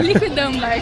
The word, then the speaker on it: Liquidambar: Liquidambar, tem um homem bem difícil. A gente até perguntou ali como que pronuncia, porque ali anda escrito a gente não conseguiu acertar, mas é liquidambar.